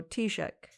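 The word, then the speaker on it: Taoiseach: how to say it it is spell t a o i s e a c h so t check has a lot of vowels it's a lot of vowels it's like welsh yeah so um it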